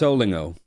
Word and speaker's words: Olingo: Yeah, it's Olingo.